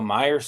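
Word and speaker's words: Meyers: Jacobe Myers. I got to make sure I pronunciate that with Michael Meyer there.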